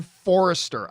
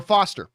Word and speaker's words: Foster: of my men but instead of saying ben foster i kept pronouncing it ben forrester i don't know why i did that but yes it is definitely uh ben forrest or foster see i just said